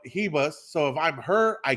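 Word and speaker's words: Ribas: pronouncing her name wrong i keep saying rebus in brazilian the the r's are pronounced like h so it's amanda hebus yup hebus so if i'm her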